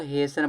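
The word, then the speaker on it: hasten: तो इसको देखो हसन पढ़ा जाता है। हेस्टन नहीं हसन में यानी जल्दी करना।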